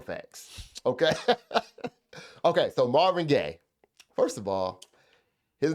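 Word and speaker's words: Gaye: So, Marvin Gay, first of all, his name his last name is spelled G A on that's that's what he's built as. Okay. But it's actually G- A Y.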